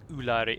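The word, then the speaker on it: Úlairi: And then Lairi, like Lair with an I on the end. Ulairi. In fact, I thrust the word Ulairi down your throat so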